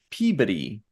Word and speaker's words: Peabody: Although there's, like I mentioned before, there's a city in Massachusetts that's spelled the same way as Peabody, but they pronounce it Peabody. Yeah. Which is weird. And I'm wondering if it has to do with the accent in that region.